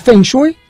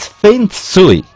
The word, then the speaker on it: Feng Shui: ¿Es Feng Shui? Sí, se le puede decir. La pronunciación realmente es Feng Shui. Feng Shui. En mandarín.